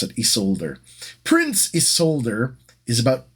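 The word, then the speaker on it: Isolder: This is Prince Isolde, or Isolde, depending on how you decide to pronounce it. I'm going to pronounce it Isolde.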